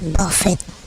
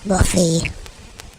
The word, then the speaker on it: Buffett: They pronounce it Buffett, not Buffy.